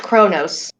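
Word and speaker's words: Qo'noS: it is pr uh spelled q apostrophe o n o s but it is pronounced kronos what no legit it's pronounced chronos the homeworld uh okay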